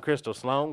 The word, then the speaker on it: Crystal Sloan: Scarboro Christy oh flarity Crystal Sloan Crystal rhymes with pistol Sloan with own yeah you know what